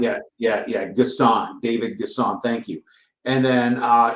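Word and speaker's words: N'Guessan: Max Johnson go ahead gasan gasan yeah it starts with the N N I know it's silent it's silent yeah yeah yeah gassan David gasan thank you and then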